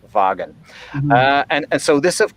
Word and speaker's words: Wagen: folk meaning people uh and wagon of course uh starting with a w uh which is pronounced as a voiced labiodental fricative in german wagon uh and so this